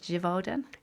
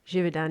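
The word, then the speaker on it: Givaudan: It's one called Rich Earth made by I'm going to pronounce this incorrectly, but Jivodan Jividan.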